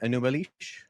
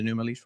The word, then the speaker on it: Enūma Eliš: enish um have you read the uh the anumal yeah new oh he got him with the pronunciation sure do you mind summarizing the the content of the creation account in the newal sure okay so he's about to summarize this